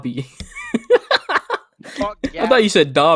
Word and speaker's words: Gabi: Fuck Gavi. Who? Gabby. Fuck. I think I said it wrong. Gabi.